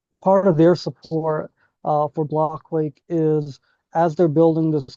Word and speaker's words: BlockQuake: So uh, backstory with our name, like it's pronounced BlockQuake, blockchain earthquake, right? That was how we came up with the name, but folks often mispronounce it and they say block quack often, like quack like a duck.